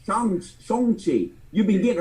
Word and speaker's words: Shang-Chi: "Hang on, motherfuckers, you've been getting your own character's name wrong. It's Shang-Chi.